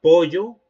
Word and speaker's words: pollo: La doble L la pronunciaría como una I.